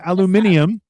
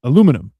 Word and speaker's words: aluminum: British people pronounce it aluminium and alum aluminium is not. It's aluminum is how you pronounce it. Aluminium has an extra I.